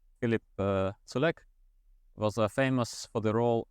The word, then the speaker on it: Culjak: So as you spell it, that's how you pronounce it.